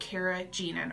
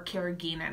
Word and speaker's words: carrageenan: Because a lot of the ones in the plastic containers have this ingredient in it called carrageenan, or carrageenan. It's pronounced a couple different ways.